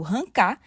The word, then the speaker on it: arrancar: normas cultas entretanto nós temos o termo arrancar que pode ser pronunciado rancar que acaba sofrendo mais